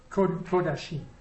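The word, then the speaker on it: קדשים: Comment shava, right off the shelf, is always o. Kadosh Kadoshim. Kodashim. Kadosh Kodashim. Okay, so this critter here is always o. It's not a common vowel. So anytime I see that combination, in other words, it's going to be an O sound.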